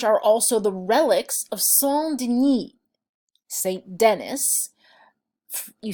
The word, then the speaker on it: Denis: So in this church are also the relics of Saint Denis. Saint Denis..you say it "De-knee" if you're using a French accent...